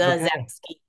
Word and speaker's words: Zasowski: S, it's pretty phonetic, but the S is pronounced like a Z. So Okay. Zazowski.